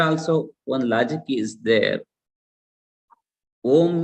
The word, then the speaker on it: Om: Om means Akara, A, U and Ma. There are three letters are there. A, it is the first letter. U is the second letter. Ma is the third letter. In pronunciation also, A is created in throat. That means it is the Utpatti Sthanam. It is Akara begins from throat.